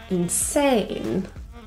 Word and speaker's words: insane: not doing that again the stress is on the second syllable insane cool this just means